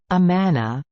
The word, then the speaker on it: Amun: Pronounced Amana, in ancient Egyptian, the name Amun means hidden or invisible.